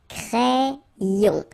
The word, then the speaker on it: crayon: So like if you would have I here, A-I, cré, and then another I here, ion. Crayon.